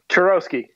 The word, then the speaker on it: Charowsky: Is it Charowsky? Charowsky. Oh, Charowsky. Okay.